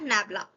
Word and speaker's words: nabla: They are often represented by the symbol del and they are pronounced as del or nabla.